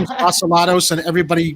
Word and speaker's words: Vasilatos: My last name is Vasilatos, and everybody mispronounces it because we've just got those ethnic names, which, and Well, that's while we're Oreo at it- joining us.